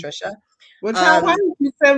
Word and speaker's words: Thrisha: So Trisha is spelled t h r i s h a that first h is silent. It's just pronounced Trisha.